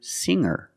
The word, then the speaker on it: singer: can change sing to singer when I change these words with ER I don't pronounce the G sound it's just the nasal linked together with the ER together hanger there's no G sound I cannot say anger